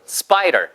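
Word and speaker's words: spiral: 즐거워 스파이를 스캔 것처럼 스파이럴 발음이 스파이더 아니에요 s 다음에 나오는 피바람이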